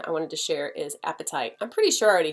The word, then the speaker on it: apatite: heard that about it it is funny that it's called apatite it's not spelled like apatite when you're hungry as a different spelling but I still think